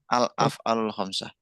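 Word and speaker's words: الأفعال الخمسة: Al soal lama lama baikir saya lanjutin sekarang alaf'alul khamsah jadi pengucapan yang pas itu ada alnya semuanya alaf'alul khamsah ini susunannya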